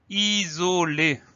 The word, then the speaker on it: isolé: On continue avec le mot isolé. Isolé, I, S, O, L, E, accent aigu. On fait attention au son Z qui est traduit par un seul S puisqu'il y a une voyelle avant, une voyelle après.